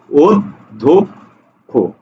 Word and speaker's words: অধ্যক্ষ: অর্থাৎ এই বর্ণটা শব্দের মাঝে থাকুক আর শেষে থাকুক, উচ্চারণ হবে ক খর মতো, এই জন্য আমরা লিখেছি অধ্যক্ষ, ঠিক আছে।